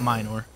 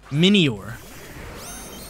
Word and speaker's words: Minior: That's how you pronounce it, not Minor. Minior.